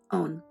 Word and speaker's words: on: These sounds are known in Japanese by a special term, on. It is pronounced like the English word own, but a little faster.